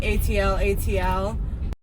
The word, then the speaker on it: atlatl: called at Aloha Rock I really don't know how to say it it's like ATL ATL okay so it's called an atlatl and it's like a